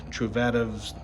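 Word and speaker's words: Truvativ: uh cover the warranty gave me these uh truvadas descendants that's how you pronounce it they also upgraded the bottom bracket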